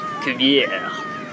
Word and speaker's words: Cuvier: Of course, it's French, so they pronounce it like Cuvier.